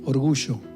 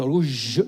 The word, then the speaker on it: orgullo: No tan pronunciada, no, así. Orgullo. Porque ustedes dicen orgullo y cuando quieren decir orgullo, dicen orgullo. No, orgullo. Así es. Normalita que se hace la Y de yuca.